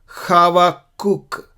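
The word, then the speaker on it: חבקוק: हबाकुक भी खावाकुक का साउंड है, कव्वाली जैसा का साउंड है। ये खा नहीं, हा नहीं, लेकिन हवाकुक, हबाकुक बोल सकते हैं हिंदी में, लेकिन इब्रानी में ऐसे बोलते हैं।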